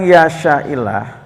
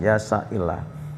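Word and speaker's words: يَشَإِ اللَّهُ: yang mengendaki siapa Allah, yasya itu asal yasya disukun Pak, yasya itu, tapi karena kalau dia sukun ketemu huruf mati lagi bacanya susah, maka dikasih kasroh ya. Ini istilahnya apa? Karena tahalus li iltiqos sakinain ya, karena bertemunya dua huruf yang bersukun dibaca secara tahalus, yasya'illah.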